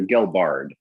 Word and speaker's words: Gelbard: I'm sorry, is it Gelbard or Gelbard? Gelbard. Gelbard, you got it.